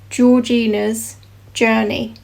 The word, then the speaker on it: Georgina's Journey: So anyway, how it's pronounced is quite simple, and it is just Georgina's Journey.